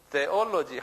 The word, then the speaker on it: theology: 근데 영어는 꼭 액센트가 있어요. 액센트가 없으면 영어가 아니에요. 어디에 액센트가 있어요? theology, 어에 있어요.